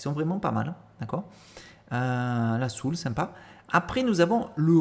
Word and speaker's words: soul: choses après vous avez la soul attention ne pas dire la salle parce que là ça hein hein c'est pas la prononciation donc en français on dit la soul ici j'ai deux artistes